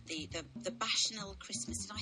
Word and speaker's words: Bacchanal: She said the Bacchanal Christmas. Did I say that right, Samuel? Am I pronouncing it right? Bacchanal Christmas? Bacchanal, that's right, okay.